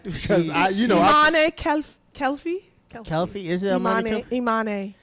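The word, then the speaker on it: Imane Khelif: Oh yeah, you have the pronunciation right because Imane Kelfi.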